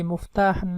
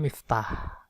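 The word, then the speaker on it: مفتاح: Ini muftah dia itu membacanya. Ada juga yang bacanya miftah, ya. Miftah, kayak saya itu miftah, tapi ada kemudian orang Arab yang bacanya muftah. Saya di Mesir dulu dipanggil muftah, padahal kalau kita biasanya miftah.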